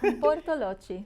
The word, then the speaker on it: Bortolotti: We have Bortolotti. Did I say it right? That's right. Bortolotti.